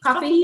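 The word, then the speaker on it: Ko-fi: patreon and a coffee coffee is how you say it coffee if you want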